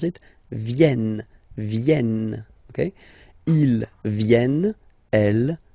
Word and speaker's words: viennent: So you've got this double N just after the E, so it will change a little bit your pronunciation. You will have to pronounce this E like eh. Okay. Ils viennent.